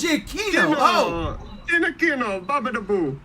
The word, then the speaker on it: Giacchino: Oh, it's Giacchino. Oh. Giacchino. Babadaboo. I always thought it was Oh, Giacchino. Jesus. Everybody I watched on like YouTube always said Giacchinos. I was like, oh yeah, that's how it's pronounced.